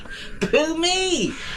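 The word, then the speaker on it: Phú Mỹ: Yes, it's it is spelled poo and then my, isn't it? Yes. Poo me, but it's ph and there's some little funny things over the u like like an omelette.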